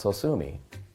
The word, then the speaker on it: Sosumi: thought, yeah, it was Sosumi. And then I thought, that's actually the right name. I'll just have to spell it funny. So I spelt it S-O-S-U-M-I, and then I said,